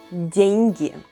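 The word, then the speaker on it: деньги: means money in russian is soft sign it doesn't make any sound but makes the proceeding letter sound soft dengue dengue is money in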